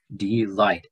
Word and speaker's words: delight: there's two syllables here d light and this is the accent mark the accent mark is connected to the second syllable not the first syllable right so d delight